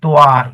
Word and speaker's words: tva: Another tricky one is TVA is pronounced as tua as in Malay language called tua.